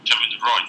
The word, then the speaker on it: Kevin De Bruyne: Kevin De Bruyne, that's all.